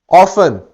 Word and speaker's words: often: ऑफन या इसे ऑफ्टन भी कहा जाता है, दोनों प्रोनाउंसिएशंस, एक अमेरिकन है एक ब्रिटिश है.